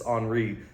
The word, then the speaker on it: Henry: parfumes enri jaac and I say HRI because if you ever follow French football you know it's not Henry Jac it's HRI I don't care they say it it's got to be HRI um TI HRI one